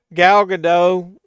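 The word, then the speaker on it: Gal Gadot: But dude, Galado, that's how you pronounce her name.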